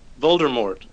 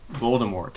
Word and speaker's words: Voldemort: Is that the official pronunciation with the T? Going hard T. Voldemort. There was a hiss. There's no R. It's like Voldemort. Yes. Voldemort. So the movies, why do they pronounce it Voldemort? Don't they pronounce without the T? Technically, it is I think you get both, don't you? Yeah, depends how French you feel.